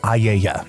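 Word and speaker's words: Aeaea: In this epic, Odysius and his crew stumble upon her island, Aya. And yes, that is spelled A E A E A A E A.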